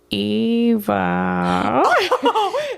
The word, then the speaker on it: Eva: And so the next person gave us a pronunciation key. Yeah. Thank you. And it's Eva.